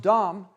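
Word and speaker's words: דם: Now, this is in Hebrew, and the root word here is blood, and excuse me, and the word in Hebrew would be pronounced dam, and then below it is Adama, the word for ground, and Jacob's brother was Esau, which meant hairy.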